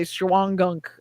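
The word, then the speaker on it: Shawangunk: the time there's the you're not going to pronounce this right Shaw and gum so we would just say shuangunk uh mountains which is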